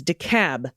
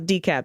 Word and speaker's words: DeKalb: getting that pronunciation right it's decab not decap decab i'm a 30 plus